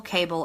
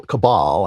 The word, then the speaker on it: cabal: to take this global cable of Satan-worshiping pedophiles out. And I think we have the president to do it. And so I'm very excited about that. A global cabal, I think it's pronounced, of Satan-worshiping pedophiles.